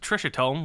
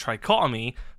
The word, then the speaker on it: Tricotome: in my other video I called Trishotome, which I was completely wrong with the name. His name is pronounced Tricotome.